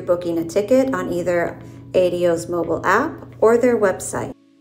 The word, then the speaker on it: ADO: land just look for the Ado kiosk or as it's pronounced in Spanish AO or eventually their booth